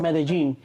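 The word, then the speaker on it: Medellín: Pronouncing Medellin.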